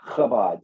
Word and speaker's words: Chabad: Yeah, Chabad. CHA Chabad. is spelled Chabad.